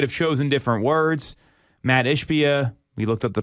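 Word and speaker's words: Ishbia: now I might have chosen different words Matt ishpia we looked up the pronunciation the um CEO of United Wholesale Mortgage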